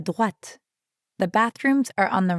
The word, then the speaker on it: droite: À droite. Notice that in droite, we're hearing the same oa sound as in toilette. Toilette. Droite. And make sure you're pronouncing the t sound at the end of droite.